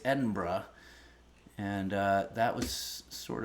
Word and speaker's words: Edinburgh: uh Mississippi spara says Edinburgh yeah I it was sort of beaten into me that I had to pronounce it Edinburgh I would have said Edinburg or something like that but apparently it's Edinburgh and uh that was